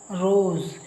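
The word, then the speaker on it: rise: ಬಲಗಡೆ ಎರಡು ಕಡೆ ಇದ್ರೆ ಆಗ ಅದನ್ನ ಜ ಅಂತ ಉಚ್ಚಾರ ಮಾಡ್ತೀವಿ ಈಗ ನೋಡಿ ಇದರಲ್ಲಿ ರೋಸ್ ರೋಸ್ ಅನ್ನೋ ಪದದಲ್ಲಿ ಎಸ್ ನ ಎರಡು ಕಡೆ ವೊವೆಲ್ಸ್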